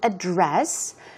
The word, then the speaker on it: address: In that case, the stress goes on the second syllable and it can be used as a verb.